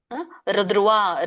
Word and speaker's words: ಧ್ರುವ: ಧಕ್ಕೆ ದ್ರುವ ಅಂತ ಇದೆಯಲ್ಲ ದ್ರುವ ದ್ರುವ ಅಂತ ಆಗುತ್ತೆ ಹಾಗಾಗಿ ನೀವು ದ್ರುವ ಹೇಳಿದ್ರುನು ಸರಿನೇ ತತ್ರ ಶ್ರೀ ವಿಜಯೋಭೂತಿಹಿ ದ್ರುವ ರ ದ್ರುವ ಹೇಳಬೇಕಾಗಿಲ್ಲ ದ್ರುವ ಅಷ್ಟೇ ಹೇಳಿ ದ್ರುವ ನೀತಿರ್ಮತಿರ್ಮ ನೀತಿರ್ಮತಿರ್ ನೀತಿರ್